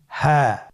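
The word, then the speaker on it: هاء: হ্যাঁ। হ্যাঁ। হা হরফটি উচ্চারণ ক্ষেত্রে অবশ্যই বারিক হবে এবং 1 আলিফ টেনে পড়তে হবে।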